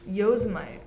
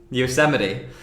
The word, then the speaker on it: Yosemite: It's like Walter Mitty.